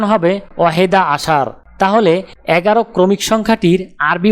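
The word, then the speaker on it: أحد عشر: আরবি ক্রমিক সংখ্যা 11 দেখতে এরকম, উচ্চারণ হবে ওয়াহেদা আশার।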